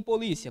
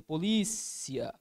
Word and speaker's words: polícia: Aqui está a minha sílaba tônica. Olha aqui em polícia, polícia.